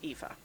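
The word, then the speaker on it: Aoife: i f e but spelled or you know pronounced eva so i am already preparing to notify him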